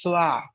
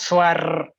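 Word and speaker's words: soir: it will become evening the pronunciation is swah it's not swar it's swah okay be very polite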